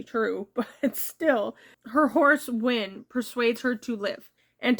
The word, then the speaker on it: Hwin: Okay, and her horse's name is Win. I thought it was Win, but it's actually spelled Hwin.